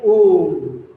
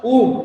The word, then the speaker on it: womb: Mother India yielded the sons of her stricken womb. W-O-M-B. B is silent, so you have to pronounce as womb, not womb, womb.